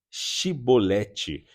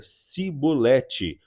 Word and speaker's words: chibolete: negasse ele o mandavam dizer chibolete se ele era de Efraim dizia sibolete pois o povo de Efraim não consegue pronunciar essa palavra corretamente então eles o capturavam